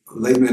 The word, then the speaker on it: Laban: And he tells Laban or Lavan, I don't know how to say it in English, Lavan we say, but I'm going back home.